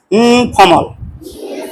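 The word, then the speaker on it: informal: ইনফরমাল উচ্চারণ করি কিন্তু ওই আর এর উচ্চারণ নাই বলো এটা উচ্চারণ আমি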